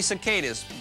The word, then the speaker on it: cicada: some doctors save lives and some doctors study cicadas well at least one does and here he